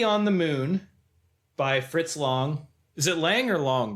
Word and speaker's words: Lang: And they are Lady on the Moon by Fritz Long. Is it Lang or Long, Brian? I've heard both. I mean, German pronunciation, I guess, would be Long. Uh, but lots of people say Fritz Lang.